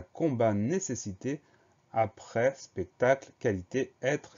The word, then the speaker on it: combat: On a un T muet à la fin qu'on va retrouver dans le verbe combattre. Donc, ça permet de s'en souvenir.